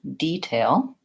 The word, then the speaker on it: detail: So if I'm using detail as a verb, like I'm going to detail my car, then my stress is on the first syllable, detail, and I use vowel E, detail.